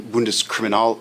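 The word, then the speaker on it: Bundeskriminalamt: conferences and seminars I worked for the German bundus criminal um spell it b u n d e s k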